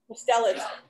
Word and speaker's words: mustelids: How do you say it, Steve? Mustelids? Mustelids. I have a different inflection.